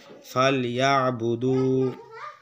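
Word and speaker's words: فليعبدوا: তাহলে উচ্চারণটা হলো কি? ফাল ইয়া বুদু রব্বা।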